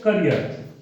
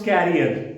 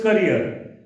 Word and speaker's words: career: So career. Okay, do not pronounce carrier. Many children they say carrier, carrier. No, it is career.